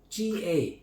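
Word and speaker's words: gà: G-A. Ga. That's ga. Means chicken. Not ga.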